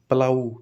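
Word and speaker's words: plough: देखो प्लाऊ पी एल ओ यू जी एच।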